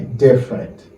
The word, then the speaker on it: different: On a les different. Moi, je vais répéter. Different. I want you to repeat. Different. Okay? We don't pronounce the letter E. Okay? The underlined letters are not pronounced. We say different.